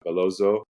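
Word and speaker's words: Bellozo: Uh, going up against Valente Beloo, I believe, is how you pronounce his last name.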